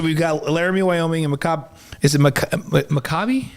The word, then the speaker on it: Maccabi: Okay, so we've got Laramie, Wyoming, and Maccabi. Is it Maccabi? How do you say it? Maccabi Tel Aviv.